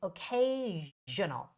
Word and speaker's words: occasional: temperatures word occasional occasional the S here is the the voiced sh sound so it's occasional all right so try